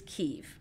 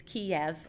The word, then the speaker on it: Kyiv: So the pronunciation of the capital in Ukrainian is Kyiv, and it is Kiev in Russian.